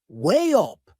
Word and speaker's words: weigh up: There is another linking sound in that phrase. To weigh up, way up. Can you hear it? We insert a little Y sound.